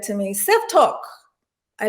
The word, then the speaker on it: Tok: how is it pronounced it's not like tick-tock it's talk talk so my full name